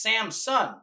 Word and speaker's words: Samson: Samson so we always say Samson but it's Sam's son I saw that written the other day I was like have I just been mispronouncing this my whole life and no one's